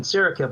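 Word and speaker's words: Saraqib: a village, which is exactly what happened in Sarakeb, which you pronounced very well, by the way.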